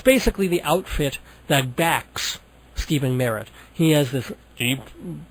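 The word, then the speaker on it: Stephin: I believe he pronounces it Steven rather than Stefen of the Magnetic Fields.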